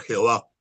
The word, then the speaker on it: Jehová: de Yahvé, o sea, la e, la o y la a del oa se intercalan en las cuatro consonantes y ya no es Yahvé, sino que pasa a ser Jehová. Y esa es la segunda traducción de este nombre.